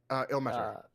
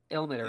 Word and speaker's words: Ilmater: Ilmater. Ilmater.